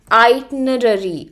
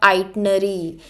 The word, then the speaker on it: itinerary: and photophile Alex planned his itinerary now the pronunciation of this word is itinerary itinerary it is not itinary a lot of few pronounce it wrong it is not itenary but it is iary itary this is how